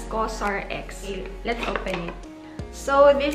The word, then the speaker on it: COSRX: all in one cream so cos or x pronounced as cosrx let's open it so